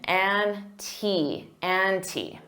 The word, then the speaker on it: ante: Notice that pronunciation, ante. And you can pronounce the as the with a long E because ante starts with a vowel.